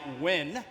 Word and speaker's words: Nguyen: My name is actually pronounced more like Nguyen because in America, people really can't pronounce the Nguyen.